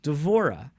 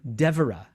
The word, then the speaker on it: Devorah: of devorah is deborah so that's why a lot of people will call her devara devera because of the tendency in english to stress the first syllable as opposed to the the uh second to last or last one and so hebrew has